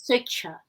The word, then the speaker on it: Swechcha: Pronounced as Swechcha.